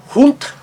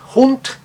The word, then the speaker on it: Hund: Veja só na palavra Hund, Hund, duas consoantes que o seguem, o som breve.